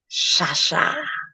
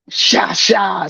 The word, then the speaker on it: Cha: I know it's spelled like cha-cha, but my family's from Haiti. So that CH sound is that SH sound in French. I promise you it's Shasha. Sha.